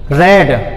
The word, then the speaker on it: read: आएगा, इज not being रेड। Third form है ये, रीड, रेड, रेड, स्पेलिंग वही रहती है जो फर्स्ट फॉर्म की है, लेकिन बोला रेड जाता है।